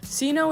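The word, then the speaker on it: Cyno: I know his name is Sino, but at the time I pronounced it Sino, and I just decided to keep it and change how I spelled his name.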